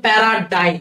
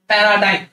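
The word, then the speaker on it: paradigm: হবে এই উচ্চারণটা খেয়াল রাখবে এটার উচ্চারণ হচ্ছে প্যারাডাইম এটার উচ্চারণ হচ্ছে প্যারাডাইম প্যারাডাইম মানে হচ্ছে দৃষ্টান্ত বা এক্সাম্পল কোন কিছুর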